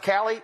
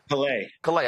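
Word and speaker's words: Callais: Is it pronounced Cali? Is that how they pronounce it, or Calais? Calais. I'm sorry. Calais.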